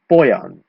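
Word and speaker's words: pojan: So if you want to say something of the boy, we say poyan, okay? The K disappears this time, but the I becomes the J.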